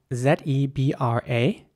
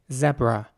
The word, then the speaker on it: zebra: pronounce this one now this animal is pronounced zebra in British English not by everyone but many people would say zebra in American English it would be more like zebra so the e at the beginning would be pronounced once again